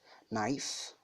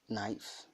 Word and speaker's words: knife: the first one is knife knife knife K is silent and tirumal Karim Allah to you knife fork fork fork marquita